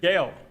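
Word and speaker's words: Gaëlle: Oh, I mean, phonetically, it's not pronounced Gaelle. Gaelle. Yeah. That's not what I said. I said Gaelle.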